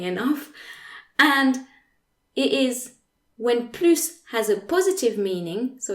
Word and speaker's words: plus: versus i want more plus is the last word of the sentence so it's not followed by an objective or adverb it means more so it has a positive meaning the s is pronounced like an s s okay so another example